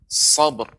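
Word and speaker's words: صبر: Nah, yang kedua, yang terakhir, ini boleh langsung pengucapannya wa tawassaw bis-sabr. Sabr. Karena ba adalah huruf qalqalah.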